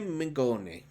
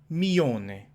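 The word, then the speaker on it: Mingione: And we've got Dolcissima Vita, designed by Gianciome Mingone. Not bad. It's okay. Well, you should read the Italian names here. Gianciome Mione. No G. You don't pronounce the G.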